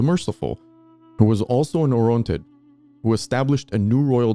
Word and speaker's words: Orontid: for any of our international audience, non-Armenian audience, Orontid is the English pronunciation, but in our history, yeah, we learned it as Yervandun.